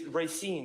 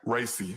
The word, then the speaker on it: Racy: It's Racine, right? Racy. It's Racy, okay.